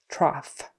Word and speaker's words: trough: Trough. Cough, coughing, trough. Those are all off with an F sound on the end.